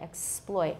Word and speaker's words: exploit: tonic stress all right the next word the stresses on the second syllable ploit or sploit exploit i have a so